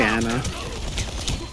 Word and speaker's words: Ana: I say Anna. I pronounce the names the way the characters pronounce their own names. That's typically how I do it.